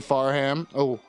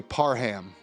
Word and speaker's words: Parham: the party's involved Ashley faram you know what I mispronounced the name the plaintiff's name is Ashley Parham I threw an extra H in there Ashley Parham is an